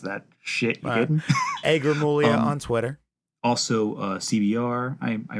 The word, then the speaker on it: Gramuglia: It sounds like Gramuglia, but the G is Oh, silent.